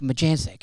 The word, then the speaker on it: Majancsik: Because I have never heard it pronounced ever. And I He was like, "Majanic."